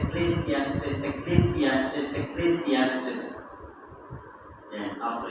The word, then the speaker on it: Ecclesiastes: Ecclesiastes, Ecclesiastes, Ecclesiastes, Ecclesiastes.